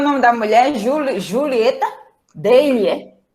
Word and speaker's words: Daly: Daly Tabef. Daly Tabef. Dê-lhe um tabefe. Daly Tabef. É Daly. Daly. Não força muito o I, não. Daly. É mudo, né? Daly. Daly. Daly. O mudo. O I mudo.